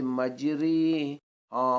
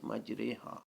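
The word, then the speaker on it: مَجْرٖىهَا: الف ہا ہوگا، یعنی اسے اردو لفظ قطرے کی را کی طرح پڑھیں گے، اسے مجری ہاں، مجری ہاں پڑھنا غلط ہے، مجری ہاں نہیں، مجرے ہاں۔ ذکرین، سورۃ الانعام 2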